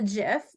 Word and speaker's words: GIF: Okay, something really easy to create is a GIF, and it is pronounced GIF. Some people say GIF, but GIF is the official, the person who GIF, like the peanut butter.